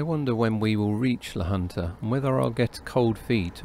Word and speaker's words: La Junta: of guys from Maine one of them corrected me that I wasn't going to La Junta but the hunter because the Spanish pronounced Jays with an H sound they got very drunk